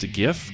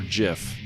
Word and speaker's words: GIF: Is it pronounced GIF or GIF? It's GIF, and anybody that says GIF is... No, I'm sorry. Let me rephrase. It's GIF, not GIF. Whoever says GIF is thinking about peanut butter. GIF, 100%.